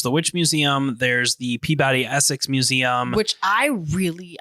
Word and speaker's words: Peabody: is no and also you said it wrong it's Peabody no that's my stupid